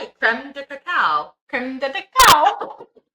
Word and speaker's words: crème de cacao: Crème de cacao.